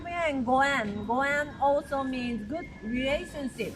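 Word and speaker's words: 五円: And because we pronounce this 5 yen goen, goen also means good relationship.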